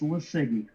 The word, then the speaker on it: LiSiGi: You can tell them what it is, or pronounce it. yeah. It's LiSiGi.